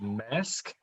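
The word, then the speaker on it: Maersk: little comment saying that i think that's pronounced mask uh the trial with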